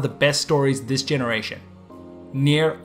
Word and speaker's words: NieR: best stories this generation near automata and yes I'm going to continue with this pronunciation since that's how the director says it and I'm too stubborn to change nomata was released March